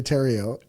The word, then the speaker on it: Theriault: Not spelt at all like Theriault, but phonetically, Theriault.